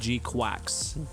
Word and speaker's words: GQuuuuuuX: It said G-Quacks, like with a CK, like quack like a duck.